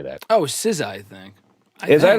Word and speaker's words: SZA: Oh, SZA, I think.